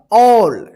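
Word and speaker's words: all: हैं यहां पे हम ए डबल एल इसको क्या पढ़ा जाएगा ऑल यहां पर देखिए ए का औ उच्चारण हो रहा है देखिए भवेल एक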